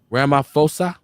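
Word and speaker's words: Ramaphosa: fosa I want to say it correctly Kamar Rama fosa who this is the president of South Africa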